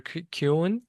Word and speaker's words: Kuhn: So my uh guest here today is Trevor Cun. Am I pronouncing your name right? Yes, it's German.